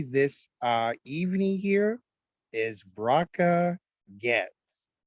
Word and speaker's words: Goetz: So with me this evening here is Bracha Goetz, and that's Goetz. And you pronounce it as if the O does not exist.